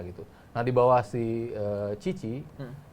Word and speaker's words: Tite: Nah di bawah si Cici, Tite itu dibaca Cici ternyata di Brasil.